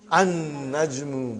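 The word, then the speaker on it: النجم: have an najrumum so how will you pronounce brother an najmu by don you did not pronounce lam okay next one is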